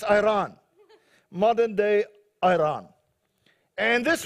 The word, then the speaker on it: Iran: Takes place in Persia, which is modern day Iran. Not Iran, as the Americans say. It's Iran.